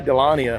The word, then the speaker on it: Dahlonega: I say Dahlonega. Yep. So, I have to I have to really enunciate the G, right?